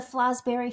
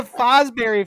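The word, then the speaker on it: Fosbury: His last name, Terra, is Fosberry. You've just been saying it wrong the whole time.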